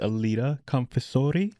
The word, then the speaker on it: Aleta Confessore: So this has been live from Bravery Studios with Aleta Confessore.